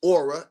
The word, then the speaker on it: Aurah: Just like the king of beasts, aura. A U R A H. Like you have a aura around your body.